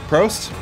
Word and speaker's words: Prost: see how do you say cheers in German Prost Prost with my chamomile hop tea super hipster